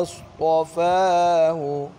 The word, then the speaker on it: اصطفاه: المال قال إن الله اصطفاه. إن الله اصطفاه. ये अलिफ जो है ना साइलेंट है, हा ज़बर स्वाद।